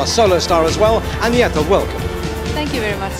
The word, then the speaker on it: Agnetha: I know it's very hard for you to pronounce, but you can say Agnetha or you can say Anna.